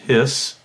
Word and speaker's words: His: in our bundle of hiss it's capital h it's not his it's pronounced hiss oops and then the